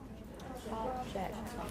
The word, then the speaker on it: object: In most cases, if you have this kind of noun and verb pair, for nouns, the stress is usually on the first syllable. And for verb, it's usually on the second syllable. Try object. Object as a noun. Object. If you shift the stress to the second syllable, I object.